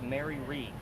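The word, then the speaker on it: Mary Read: So she convinces this young lady, her name was Mary Reed, just like you read a book. That's how it's spelled.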